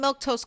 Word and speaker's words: Milquetoast: Uh I'm Milktoast. That's how you say my name if you are wondering.